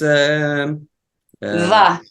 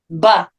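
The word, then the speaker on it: בּ: Va. No. Ba. Ba. Yeah. Ba. Okay. Yes. Big. Oh, because there's a dot, so it's yeah, ba.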